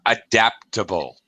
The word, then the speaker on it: adaptable: I don't know, Ad- adaptable. adaptable. Hmm. Adaptable Second with the culture here. second syllable Adaptable, stress.